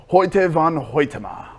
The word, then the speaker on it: Hoyte van Hoytema: How do you pronounce the name again? Hoyte van Hoytema.